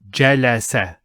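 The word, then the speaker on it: جَلَسَ: The complete verb will be read Jalasa, which means he sat. And notice they're all short vowels. Jalasa, not Jalasa. No, Jalasa.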